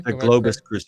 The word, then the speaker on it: Globus: Globus.